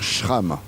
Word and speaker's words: Schram: Il faut bien dire shram. J'ai vérifié auprès d'elle.